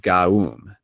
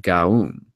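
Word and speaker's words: Gaom: Raum Gaum. That's R-A-O-M G-A-O-M. Raum Gaum. Each word is divided into 2 syllables. One must accentuate the vowel O.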